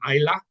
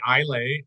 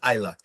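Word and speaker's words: Islay: you've always corrected me on this it's called Isa I a lot of people you say ilay iay malz but you I have heard I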